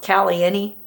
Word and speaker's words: Caliente: went there once um it's spelled caliente but i'm pretty sure it's pronounced cali any because that's how they do it over there i went and toured